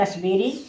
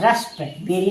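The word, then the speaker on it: raspberry: आर ए एस पी बी E double R वाई रसबेरी। ये क्या है? रसबेरी। यहां रस्पेरी नहीं पढ़ेंगे। रस्पेरी नहीं यानी रसबेरी पढ़ेंगे। यहां पी साइलेंट है।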